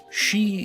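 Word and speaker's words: Sidhe: She is spelled S-I-D-H-E, and from my research it is a Gaelic word, which is the language of the Irish.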